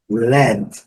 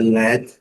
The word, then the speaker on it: lead: Led, pronúncia led, e lembrando que tem a mesma escrita do verbo liderar, conduzir, lead. Então, chumbo, led.